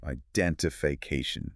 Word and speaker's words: identification: It has six syllables with the main stress falling on that ca syllable. Let's say it very slowly. Identification.